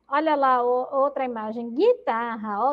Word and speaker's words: guitarra: Então, ele tem o som do G e a letra U não é pronunciada.